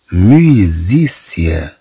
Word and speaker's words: musicien: إذن طبعا إس ستنطق في هذه الحالة كزاد.